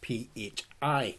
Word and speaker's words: phi: So this ratio, 1.618, is known as phi, P-H-I, pronounced phi, and it has this symbol, but it's also known as the golden ratio.